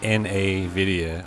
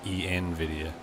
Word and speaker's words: NVIDIA: Instead of like NA-VIDIA, I say EN-VIDIA. Like English. NVIDIA. I don't know. That's how I say it.